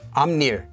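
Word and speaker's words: 앞일: another word amni which gets pronounced as amner like that due to regular sound change rules so this word genni is perilla leaf and this word amnir is the future or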